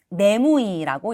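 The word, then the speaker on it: 眠い: 내무이라고 읽습니다.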